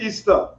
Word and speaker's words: Ishtar: God, became known as Ishtar, which is pronounced Easter, and her moon egg became known as Ishtar's egg.